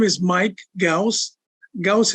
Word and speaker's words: Ghouse: Ghouse is spelled a house with a G in front of it, Mike Ghouse.